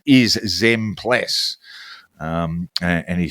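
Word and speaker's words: Zempilas: The pronunciation of Basil Zmplas's name is Zmpless.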